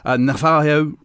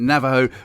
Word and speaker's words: Navajo: pronunciations or pronunciations incorrectly navio is that right Navaho it's actually Navajo oh sorry more about that in a minut Navajo reservation in the USA